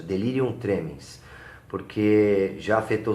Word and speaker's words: delirium tremens: Essa é a pronúncia, delirium tremens.